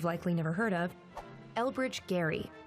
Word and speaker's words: Gerry: never heard of elbridge Gary yes it's pronounced Gary elected to the Continental